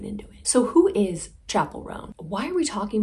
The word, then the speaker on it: Chappell: feel confident enough to say her name was chapel and not Chappelle Mysteries of the world